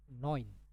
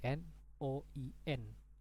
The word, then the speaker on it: neun: Oke, jadi di sini ada huruf EU. Jadi kalau huruf EU itu dibaca seperti ini. Oi. Jangan lupa ya teman-teman, EU dibaca oi. Jadi noin. Anggap aja tulisannya jadi seperti ini, N-O-I-N, noin.